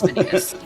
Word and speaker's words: Vanitas: Because I see that and I instantly go to the Latin, which is Vanitas. Yeah, when I'm annoyed at him, I call him Vanitas, but yeah, it's Vanitas.